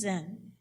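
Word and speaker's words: Zenn: But the interesting thing is that my family name was Zen. It's spelled Z-E-N-N, a good German name, but it sounds like Zen Buddhism.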